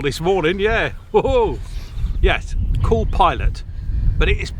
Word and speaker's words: Pilate: Pilot, but it is it's spelled like pate.